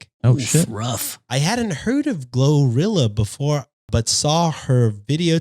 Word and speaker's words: GloRilla: her video today and think that the name might be pronounced as Gloria her real name is Gloria so that's her stage name yes but it's definitely pronounced glorilla right song glorilla okay